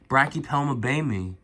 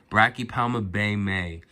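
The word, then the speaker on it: Brachypelma baumi: Yes, guys, I purchased my first Brachypelma Baymii. I think Brachypelma Baymii or Baymii. Yeah, man, I think it's pronounced Brachypelma Baymii.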